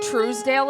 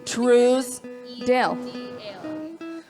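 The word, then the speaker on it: Trousdale: up-and-coming band if you guys don't know who Truesdale is I will literally spell it for you on Spotify t-r-o-u-s-d-a-l-e-d-a-l-e truce Dale TR yeah it's so good this song is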